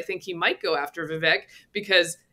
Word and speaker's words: Vivek: It's Vivek, by the way. It rhymes with cake. It's Vivek. I got trained by the Vivekian people. It's Vivek, rhymes with cake.